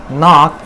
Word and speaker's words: knock: How do you enunciate the word knock in English language? Do you enunciate including the K sound? If you are doing this thing, then you are definitely wrong.